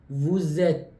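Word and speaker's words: vous êtes: یه مقداری عجیب میشه نمیگم وت در زبان فرانسه وقتی که انتهای حرف می‌رسه به یک حرف صدادار ما مجبوریم که اون رو بچسبونیم به هم و من در نتیجه تلفظ می‌کنم وزت وزت اودیا اودیا اودیا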